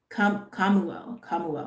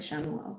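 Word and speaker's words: Chamuel: Oh, have I been mispronouncing his name? Kamuel. I've been saying Shemuel.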